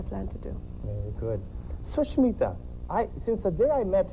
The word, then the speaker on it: Sushmita: Well, like I said, there are two ways you pronounce it. The first way is Sushmita. Okay. Sush means good. Okay. Mita means friend, a good friend. Okay. And if you pronounce it the second way, which is Sushim Ita.